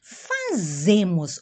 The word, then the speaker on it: fazemos: Nós outros hacemos, português é nós fazemos, ou aqui, quem sabe inglês, a Z se pronuncia bem forte, como inglês, né?